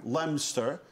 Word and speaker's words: Leominster: had this connection with Leominster Leominster is that how they say it they say it lemster like in Pennsylvania to say